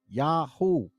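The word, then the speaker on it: יהו: to this suggests that the short form of the Divine name was pronounced yaho or like Netanyahu like Yahoo it's right in your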